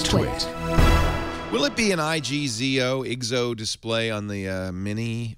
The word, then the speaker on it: IGZO: And it's pronounced IGZO. Is that right?